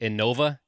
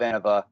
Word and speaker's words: Innova: I just learned is I think I've been saying the name of in 'va incorrectly in my whole life because I always say Innova is that not the not the right way to say it think of innovation innovations yeah it makes way more sense to say that that way I've just been saying